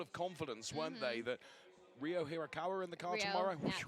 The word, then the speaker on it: Ryo Hirakawa: be now full of confidence, won't they, that Ryo Hirakawa in the car tomorrow? Yeah, tomorrow. That was perfect pronunciation.